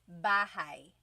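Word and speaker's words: bahay: You might notice that the spelling is a y at the end. So it looks like bahi, but it's pronounced bahigh. That ay combination is bahigh. Bahai.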